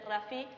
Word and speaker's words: Rafi: visitamos el restaurante Rafi que no se dice raffi como muchos piensan sino que se dice Rafi y allí comimos lemun